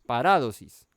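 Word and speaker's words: παράδοσις: Esta palabra instrucciones, en el griego la palabra es paradosis, o no mentiras, tiene tilde en la A, paradosis, ¿sí? Tiene el acento en la segunda A, paradosis.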